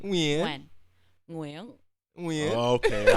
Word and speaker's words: Nguyen: No, well, that's the best way to pronounce my name As an English speaker. As an English speaker. Okay. In Vietnamese, it's Nguyen, Yeah. but the Ooh. NG is hard for people.